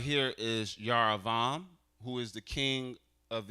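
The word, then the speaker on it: Jeroboam: They spell it with a J, but this would be Yaravo. I know I can't make it bigger. This right here is Yaravam, who is the king of Israel.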